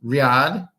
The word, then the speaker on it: riad: Riad Riyad which is a giant kind of like a lodge hotel house lodge hotel thing.